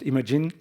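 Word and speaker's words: Imagen: Yeah, it's supposed to be pronounced imaging, image gen.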